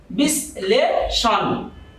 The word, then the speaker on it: বিশ্লেষণ: আমরা যদি লিখি বিশ্লেষণ, তো এখানে এর উচ্চারণ হবে বিশ্লেষণ, কারণ এখানে তালব্য স ল এর সাথে যুক্ত অবস্থায় আসছে, যার কারণে এখানে আমাকে দন্ত স লিখতে হয়েছে।